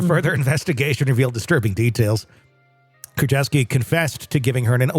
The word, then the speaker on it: Kurczewski: criminal complaint filed in June of 2021 uh keski that's how you say her name so many